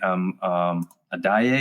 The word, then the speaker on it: Adaye: So that was interesting when you've got a guy named Adaye. Is that how you pronounce his name? Yes.